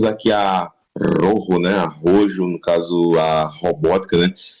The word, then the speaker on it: Rojo: Falei Rojo, né? Porque é a maneira certa de pronunciar, né? Porque é vermelho em espanhol, né? Aí aqui a dublagem pronuncia como rojo, né? Tipo, do jeito que tá escrito é o jeito que eles leem, né?